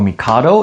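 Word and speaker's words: 帝: This uh in Japanese is pronounced t or mikado.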